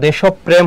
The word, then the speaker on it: দেশপ্রেম: উচ্চারণটা কি হবে বলতো? দেশপ্রেম হবে, দেশপ্রেম।